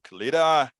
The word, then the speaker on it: Caletta: Today we have a great interview teaser from Caletta. She is the director, producer, and everything in between for No Address Atlanta documentary. Did I say the name right? Welcome to Politics Done Right. Caletta, how are you doing today?